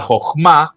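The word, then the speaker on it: חכמה: Que es la siguiente etapa que se llama Jogma. Mira, tengo que usar mucho la Jas para pronunciarla que habla de sabiduría.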